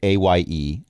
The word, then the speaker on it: Aye: All of this is happening within the space of 6 seconds, but for A, the kobold, and by the way, it's spelled A-Y-E, A.